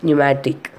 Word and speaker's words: pneumatic: But here the P is silent, so we are pronouncing as pneumatic.